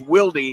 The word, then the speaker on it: Wilde: And it is pronounced Wilde, W-I-L-D-E, even though it looks like wild with an E.